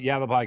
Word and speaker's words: Yavapai: had a hard time saying Yavapai College but Yavapai College is Ryan gray welcome sir thank you